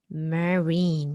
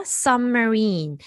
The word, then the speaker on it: submarine: 자, submarine 같은 경우에는 일단 3음절이에요. submarine 이렇게요. sub 같은 경우에 발음이 꺽쇠 발음이 날 때가 있고 그다음에 그 슈아 발음이 날 때가 있거든요. 그래서 이 둘 다 어라는 발음인데 빠르게 거의 소리를 강조하지 않고 내는 어라고 생각을 하신다면 같은 경우에는 sub 이렇게 좀 강세를 받는 어의 발음이라고 생각을 하시면 돼요. 그래서 submarine 3음절입니다. submarine 이렇게요. 오히려 여기 sub의 강세가 들어가기 때문에 여기 있는 marine 같은 경우에는 슈아가 되겠죠.